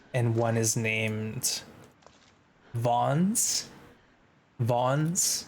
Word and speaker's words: Vaughn's: Vaughn's is the pronunciation.